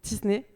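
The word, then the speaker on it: Tisné: et enfin Lucas tiny est-ce qu'on pronce le S ouais il y a un S tu le prononces tisney Lucas est né à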